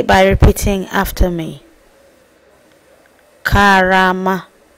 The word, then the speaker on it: Karama: learn how to say by repeating after me Kama k Kama you won't know how to say